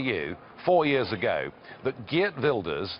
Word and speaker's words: Geert Wilders: four years ago that GE builders that is the right pronunciation by the way that gilders would